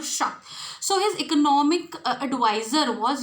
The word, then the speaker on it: Schacht: It is Schacht. Hjalmar Schacht. So, Hitler was advised on economic growth by Germany's Minister of Economics, Hjalmar Schacht.